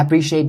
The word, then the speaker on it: appreciate: keep in mind is the third syllable of the word appreciate notice that i roll my tongue a little bit to make the sh sound really sharp and strong is not going to be the soft sound so don't say